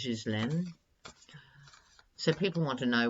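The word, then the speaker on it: Ghislaine: land Maxwell Epstein's Precure I think the pronunciation is his land so people want to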